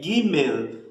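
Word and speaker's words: גימל: A gente pronuncia bem o L no final, é Gimel.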